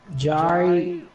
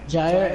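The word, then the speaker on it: Jaire: His name is, I don't know, Jari Alexander off the Packers. Yes, sir. How you pronounce it? Yeah, Jair Alexander.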